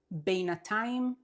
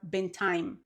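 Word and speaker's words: בינתיים: You can either pronounce it beinatayim or bintayim. Both are correct.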